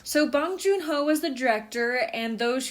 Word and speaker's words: Bong Joon-ho: I do know Bong Joon-ho, even if I'm saying that right or not with the correct No, you're saying accent his or name whatever or correct.